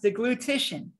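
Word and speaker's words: deglutition: I have trouble saying this myself sometimes it's pronounced the glutition so the glutation is the movement of the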